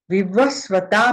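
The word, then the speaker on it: विवस्वता: नानी विव स्वता वा विव स्वता में स आधा है व पूरा है तो हम पढ़ेंगे विव स्वता वा युष्मद दु यशम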